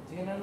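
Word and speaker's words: genre: সো D4 হচ্ছে D4 = 41.008 comedy as k = 1, so Barbie জেনারেল Barbie জেনারেল এটাকে বলে জনরা। স্যার মুভির জেনারেল বলে না সবসময়? জনরা, এটা উচ্চারণ হচ্ছে জনরা।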